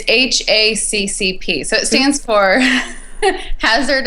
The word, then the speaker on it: HACCP: how do you say is it HP it's hacp so it stands for hazard analysis critical control